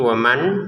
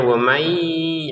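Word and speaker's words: ومن: Nah, di sini waman ketemu ya maka dimasukin dengan dengungan. Jadi kita bacanya wamai dengan dengungannya. Jadi jangan sampai wamai tidak ada dengungan. Kemudian jangan sampai dibaca jelas juga. Waman ya, itu salah.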